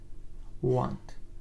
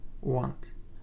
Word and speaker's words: want: حرف A آواز او را داد، مثل در کلمه های hot و rock.